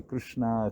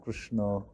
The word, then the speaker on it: Krishna: whole big debate about how you should pronounce Krishna you know this whole way should they say Krishna Krishna I always find it coming from India I find it a strange thing because in India different states pronounce it differently right yeah because some some also